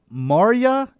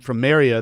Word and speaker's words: Marya: Terry and is it Maria? Is that how you pronounce her name? It's Marya. Is it Maria? Maria. Okay.